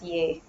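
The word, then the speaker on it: यह: yaha all right so yaha pronunciation is okay but colloquially uh what I'm seeing these days is people generally pronounce it as yay for both for this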